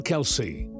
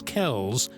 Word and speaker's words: Kelce: Although the extended side of his father's family pronounces their surname as Kells, he opted for his father's pronunciation, Kelce.